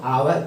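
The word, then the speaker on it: hour: पर गलत हो जाएगा, इसको आवर पढ़ा जाता है, जबकि इसके पहले आर्टिकल क्या लगेगा, एन।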